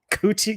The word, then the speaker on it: Quatchi: Is it Quatchi? Quatchi, yes.